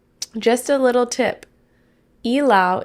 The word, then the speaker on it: Ilaw: Ilaw. Okay, Meg said, just a little tip. Ilaw is pronounced as E, like you're saying letter E, as a long vowel.